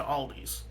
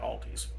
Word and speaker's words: Aldi: Like, oh, the first time I ever tried spinach, my grandma Nancy took us to Aldi's. Apparently, it's supposed to be just Aldi, but every American pronounces it Aldi's.